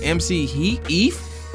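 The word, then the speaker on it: MC Eiht: And that one features E40, MC, how you even pronounce it? MC Heath, E-I-T-H, Goldilocks, Daz Dillinger, and Corrupt.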